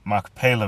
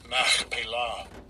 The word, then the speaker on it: Machpelah: wife, in the cave of the field of Machpelah, before Mamre, the same as Hebron, in the land of Canaan. So let's see what Machpelah means.